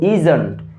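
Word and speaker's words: isn't: এরপর হচ্ছে ইসনটকে আমরা কি বলবো? ইজন্ট।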